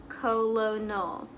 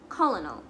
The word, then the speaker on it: colonel: You may be pronouncing it colonel. Colonel. Colonel. Hah? Bukan ya? What it actually is, colonel. Terus lo-nya gimana? Silent gitu.